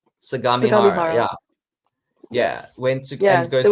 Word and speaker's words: Sagamihara: Sumigara? Is that how you say it? Sagamihara. Sagamihara.